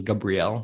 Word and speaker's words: Gabriel: i introduce myself as gabrielle it's kind of like a hebrew pronunciation okay um but uh